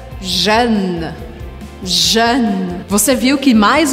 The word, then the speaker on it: jeune: J-E-U-N-E. Ou seja, J-E-U-N-E. Bom, a gente já viu que a letra E ao final da palavra eu não pronuncio, então pode barrar essa letra.